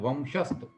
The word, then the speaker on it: वंशस्थ: अतः इसको म की तरफ बोला जाता है ना, संस्कृत ऐसा। हाँ, संस्कृत ऐसा हम बोलते हैं, वंशस्थ, है ना।